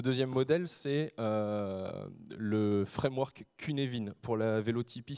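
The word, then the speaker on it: Cynefin: Ce deuxième modèle, c'est le framework Kunevin. Pour la véotypis, ça s'écrit et ça se dit que Nevin.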